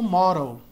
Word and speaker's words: model: Essa palavra aqui, modelo, modelo do equipamento, eles pronunciam lá como model, model, model. Esse D aqui vira quase um R, né? Model.